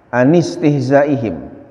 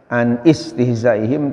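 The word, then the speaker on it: عن استهزائهم: Anistihzaihim, tulisannya sebenarnya ada alifnya, tapi dibacanya enggak boleh ya an istihzaihim tapi anistihzaihim. Kenapa? Karena disebutnya hamzahnya hamzah wasol, ketika di awal kata harus dibaca, ketika terjepit dengan kata lain harus dibuang walaupun tulisannya ada, tapi bacaannya ketika dibaca hamzahnya seolah-olah enggak ada.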